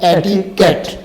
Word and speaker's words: etiquette: ایٹیکیٹ, Kate, اس کا تلفظ ٹھیک ہے جو وہ ہے ایٹیکیٹ.